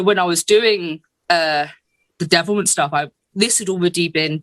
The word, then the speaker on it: Devilment: Did you just call it Devilement? Isn't it Devilment?